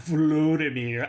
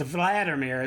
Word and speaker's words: Volodymyr: Okay, first of all, it's not Vladimir. What the frick pronunciation is Vladimir? It's Vladimir Zelensky, lady.